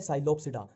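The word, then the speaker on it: Psilopsida: Pteridophyta में इसमें P silent ही चलता है, जहां भी पी आ गया वहां साइलेंट ही चलेगा। अब देखो ये है साइलोप्सिडा, साइलो और ये साइलो, ठीक है।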